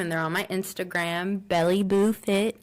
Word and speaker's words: BelleBooFit: they're on my Instagram, Belly Boo Fit. It's BELLEBOOFIT. Let me tell you, everybody says Bell. I'm like, dang, I forget that we don't pronounce the E here. So it's Bell Boo Fit, and I'm like, ew.